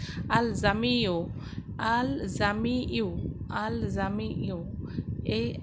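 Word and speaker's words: الجامع: আমি আবারও বলছি, আল জামিউ বর্গ জয়াকার ময়রস্যি অন্তস্তয় জফলা রস্যু, এই উচ্চারণটা হবে আল জামিউ।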